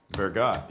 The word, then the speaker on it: Vergot: And introduce Tom's next project, which is the Peters Point Road Vergot easement, correct? No silent T there.